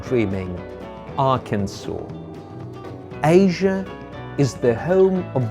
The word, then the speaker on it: Arkansas: is pronounced Kansas however this American state is pronounced Arkansas yes you're not dreaming Arkansas Asia is the home of the Bengal tiger